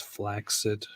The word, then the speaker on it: flaccid: Did you know that the word flaccid is actually more accurately pronounced as flaccid?